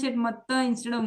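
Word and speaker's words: मत्तः: So can you pronounce it matta instead of matha? मत्था परतरं Not matha. It's not matha. Okay, it's matta.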